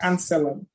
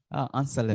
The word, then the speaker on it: Anselem: So it's Anselem. Anselem.